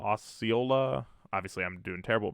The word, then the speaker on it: Osceola: in USL League One Osceola is the pronunciation thanks black I appreciate that